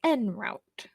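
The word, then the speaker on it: en route: pronunciation which is Google in route or n route yeah it's n route the first pronunciation is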